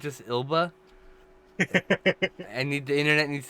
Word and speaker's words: Elba: zelba has a cold is he it's just elba i need the internet needs to know i